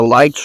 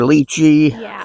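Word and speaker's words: lychee: relative of the the the ly or leachy depending on where you are that's how you pronounce it but you can even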